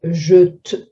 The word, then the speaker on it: jette: When it comes to a silent E conjugation, the pronunciation is quite hard to say. Il jette, jette.